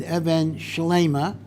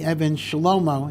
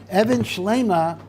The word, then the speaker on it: Even Shleima: of safer and this is a safer called Evan schleima note in case you don't pronounce it correctly you're given the Kudos Evans A lot of people say Evan shalomo and that's incorrect Evan schlima is as it were a pun when the